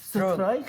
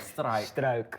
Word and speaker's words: Struick: say name full name my full name is stroke strike stroke stroke that's very dutch that's very hard for